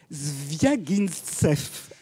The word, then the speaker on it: Zviagintsev: Je l'ai écrit, mais c'est impossible à prononcer. Zviagintsev.